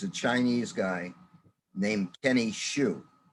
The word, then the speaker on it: Xu: chinese guy named kenny shu spelled xu but it's pronounced shu it's called the inconvenient